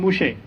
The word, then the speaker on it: Moshe: It's the Torah, they pronounce him Moshe. They don't call him Musa in Hebrew.